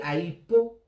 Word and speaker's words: Aïpo: Aïpo, ça se prononce en BT Aïpo.